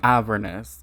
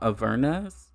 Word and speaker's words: Avernus: Thank you for saying Avernus, because I particularly prefer that pronunciation and not Avernus.